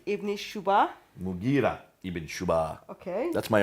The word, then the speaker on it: Mughira: Basra, Amir ibn Abdul Quyas, sorry for the pronunciation. Qais. In Syria, Al-Muqarid ibn Shuba. Mughira ibn Shuba.